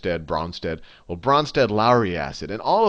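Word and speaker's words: Brønsted: don't know the correct, I always say just Bronsted, but if you don't have fancy fonts, it's spelled like this: Bronsted-Lowry acid or base, and I'll say, but if you have good fonts, there's usually this little cross in the O. So I mean Bronsted.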